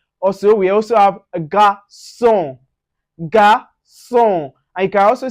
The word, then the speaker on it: garçon: Now, anywhere you see the C with cédille, with that C, cédille with A or O or U, you pronounce it with S.